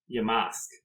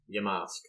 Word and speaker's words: Yamask: the OG Japanese ones pronunciation of this one Yamask Yamask okay like like your mama um yeah so this